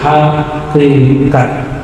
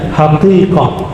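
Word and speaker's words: حقيقة: Lalu ada yang disebut Hakikat bahasa orang kita hakikat sebenarnya bacanya hakikah hakikat arti aslinya kebenaran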